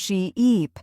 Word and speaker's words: sheep: Say sheep and stretch the E sound she-eep, then say ship with a short sound ship.